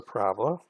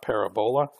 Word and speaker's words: parabola: the equation, and we know quadratic relations have parabolas, and we've confirmed that with the actual graph. So the shape is a parabola. And please learn how to pronounce this right. It's not parabola, it's parabola.